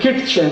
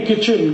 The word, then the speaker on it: kitchen: एक शब्द है किटचेन, KITCHEN, कहते नहीं किचन किचन किचन, फिर KIT क्यों लिख रहे हो? टी साइलेंट है, क्यों लगाया? हटा दो।